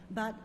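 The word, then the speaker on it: Biao: hello my name is b also in case you've intimidated by three vowels in my name it's pronounced meow with v so don't forget b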